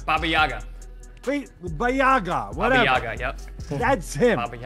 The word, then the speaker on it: Baba Yaga: How do you pronounce that again, Chris? Baba Yaga.